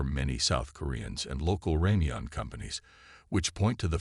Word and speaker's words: ramyeon: South Korean fans and media have noted that the characters correctly pronounce ramyeon, or Korean instant noodles.